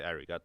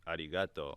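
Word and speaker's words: ありがとう: because we don't say arigato, it's arigato, Yep. but we spell a shit with the R, which to me doesn't make sense.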